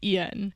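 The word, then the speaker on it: Iain: have we spread by ion Reed Ian because of the way his name is spelled I'm always tempted to say it a different way but it is Ian so this is we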